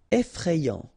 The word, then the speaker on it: effrayant: Effrayant, okay, remember, final T not pronounced.